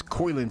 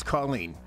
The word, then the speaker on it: Colleen: Like I said, I mispronounced her name as Coilin for some reason. But there you have it, folks. That was Colleen.